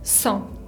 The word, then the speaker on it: cent: por fin el 100 se dice son son con la nasal e n y la t final que no se pronuncia son como se pudieron